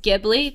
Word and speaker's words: Ghibli: And so technically how it's spelled, Ghibli should be pronounced Ghibli because it's from an Italian word having something to do with aircrafts, if memory serves.